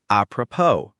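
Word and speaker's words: apropos: A P R O P O S appropo. The IPA is appropo. The final S is silent.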